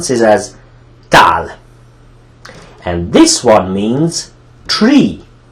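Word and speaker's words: tál: Now, this word means plate, and it pronounces as tal.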